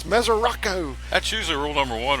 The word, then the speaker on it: Mesoraco: But like if you watch the Reds and the Yankees last night, the Yankees announcers could not pronounce Devin Mesoraco. They called him Mesorasco.